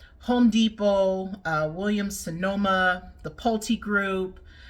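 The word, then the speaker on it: Pulte: Brothers in there Home Depot William Sonoma the polti group it's got Owens Corning in there which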